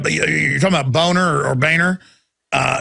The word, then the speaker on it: Boehner: yeah well know he the name is German it's a nice name it's pronounced boner and his whole life he even had ad campaign saying it's Boehner not boner hey if your if